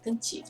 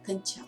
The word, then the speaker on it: kencang: So if you want to describe wind, you cannot say kencing, to say kencang.